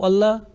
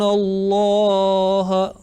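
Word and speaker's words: الله: Okay, one thing is clear: Laam of Allah preceded with a letter with dhamma or fatha. Okay. In Allah. Remember, when we have to make a thick sound, the tongue inclined towards the ceiling of mouth, and if it is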